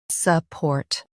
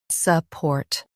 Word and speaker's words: support: Support. Both US and UK have the same pronunciation of this word. Support. Now read the syllables shown on the screen naturally. Suh. Port. Support. Stress port and soften suh.